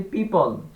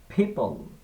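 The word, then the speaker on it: people: যেমন আমরা বলি পিপল সাধারণত, কিন্তু এটার শুদ্ধ উচ্চারণটা হবে পিপল, পিপল, পিপল, পিপল, পিপল।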